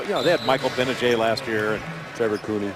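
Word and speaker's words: Gbinije: know they had michael benajay last year and trevor cooney yeah uh you know been a jade you know that's spelled it starts with a g i do the g is silent i was there for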